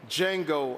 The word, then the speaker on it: Django: With 5 Golden Globe nominations, this is Django Unchained. Hey, what is your name, boy? Django. The D is silent.